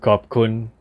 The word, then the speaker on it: ขอบคุณ: ขอบคุณ Instead now there's kind of a khop. ขอบคุณขอบคุณครับ ขอบคุณครับ or ขอบคุณครับというけど発音がちょっと Okay.